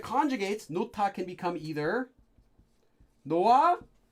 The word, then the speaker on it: 놓아: can become either 놓아, but this is most often pronounced quickly in Korean and also spelled as just 놔, as one word. And in fact, Koreans will sometimes even go further and just say it almost like 나, though it's not quite this strong.